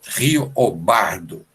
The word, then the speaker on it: Riobaldo: E a pronúncia do nome Riobaldo, no universo sertanejo, é Riobardo.